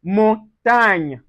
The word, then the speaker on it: montagne: So we have g and n which is going to give us the gn gn sound just like in montagne.